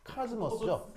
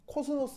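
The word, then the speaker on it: cosmos: 그 KS의 상대적 의미 어 어 그스 아 카즈머스죠 아 아닌데 맞다는 카즈머스 코스모스 아니고요 카즈머스 어 네카머 그죠 그래서 이제 요거는 어 이렇게 쓰고 이거는 즈 발음이 나요.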